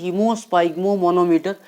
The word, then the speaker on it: haemosphygmomanometer: Pronunciation is hemosphygmomanometer.